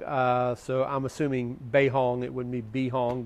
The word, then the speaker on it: BeiHong: I believe it's pronounced Bay Hong I do know it is a b as in boy not a d as in dog uh so I'm assuming beihong it would mean bee